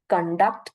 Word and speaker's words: conduct: basically the first right con is given the primary stress and duct follows it that is the secondary stress now conduct con is again given the secondary stress and duct is basically given the prominence spoken for a longer period of time so therefore it is going to change the meaning conduct is behavioral pattern